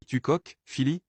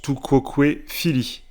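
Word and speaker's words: tu quoque, fili: Il s'est tourné vers moi et a dit « Tu coques, Phili ?»« Pardon? Tu coques, Phili ?»« Pardon? Tu coques ?» Pardon? Bon, ça se prononce tout quoque fili.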